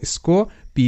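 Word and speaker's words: scope: ও এর sound oh স্কো পি তে প স্কোপ এখানে শব্দের শেষে অনুচ্চারিত ই রাখা হয়েছে যাতে এটা ভি সিভি রুল হয় এবং ও এর সাউন্ড ও হয় কারণ ও হলো ভাওয়েল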